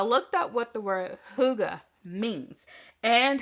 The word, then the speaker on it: hygge: Okay, and so I was looking up the word Hygge.